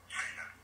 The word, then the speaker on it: Shenna: I don't want to mispronounce it. Is it Shenna? Sorry, Shenna? That's correct. Shenna.